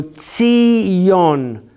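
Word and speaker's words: ציון: Zion. Yeah, in English, Zion is pronounced in Hebrew Tzion.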